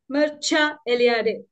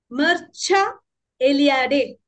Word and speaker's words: Mircea Eliade: and modern myths okay so who was was Mera elad let's get the pronunciation right he was a Romanian historian religious historian a mythographer a Critic a fiction writer we pronounced his name as Mera elad Mera elad this is how we pronounce his name now